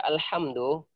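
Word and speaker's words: الحمد لله: salah contoh iturra al-fatihah ketika kita membaca alhamdulillah itu bacaan yang benar pakai ha endi-endi tenggorokan Hah bacanya alhamdulillah tapi terkadang ada orang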